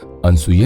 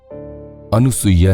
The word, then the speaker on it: अनुसूया: को ए बिग विन अनसूया ने मुझे बेवफा तुम हमेशा मेरा नाम गलत ऊंचाई तय हो अनुसुइया नहीं अनुसूया कहा करो फोन मैंने अपना उच्चारण